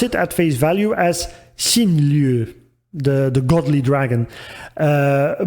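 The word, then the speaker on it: 神龍: his name the phonetics Shen long which is which you see written in uh Katakana between brackets and here again he used the Chinese pronunciation of these characters over the Japanese one so I thought it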